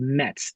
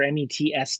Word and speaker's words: Metz: in a town called Metz, Metz or Mets, depending on the pronunciation.